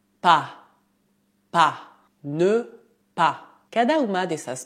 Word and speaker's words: pas: O S final é mudo. Não dizemos pas, mas pas. Pas.